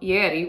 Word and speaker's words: Ieri: This shawl is called Ieri, which is spelled I-E-R-I, it's an Italian word.